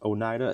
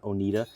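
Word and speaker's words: Oneida: And yes, it's pronounced Onida. It's not Onidita.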